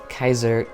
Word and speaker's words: Caesar: truth Caesar caesaris now technically you could pronounce this as Kaiser kaiseries but it means Caesar and I think it's